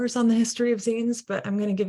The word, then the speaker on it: zine: But just for your information, it's called a zine, short for fanzine, similar to the word magazine.